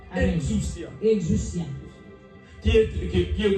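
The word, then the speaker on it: exousia: La puissance en grec, c'est exucia. Ah bah la puissance grec exus hein. Ça s'écrit E x O U S I A. Exuustia.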